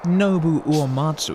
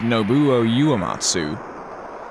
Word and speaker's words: Nobuo Uematsu: It's not Nobuo Uematsu as I thought it was. It's Nobuo Uematsu.